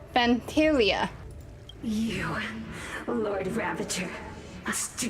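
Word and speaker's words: Phantylia: That's how you pronounce the name, Pantilia.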